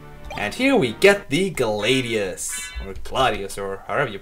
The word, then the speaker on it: Gladius: And here we get the Gladius, or however you pronounce it. Well, since it is a Roman sword, it should be Gladius, but oh well.